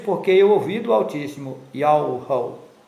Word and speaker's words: Yahweh: Esse nome está contido em um tetragrama hebraico, Yod He Vav He, que em português é YHWH, e a pronúncia do nome é Yahweh.